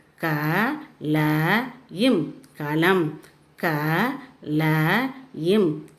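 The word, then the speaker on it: कलम: This one is kalam. Kalam means pen. Here the last letter is ma. So you should say as im. Ka la im kalam. Ka la im kalam.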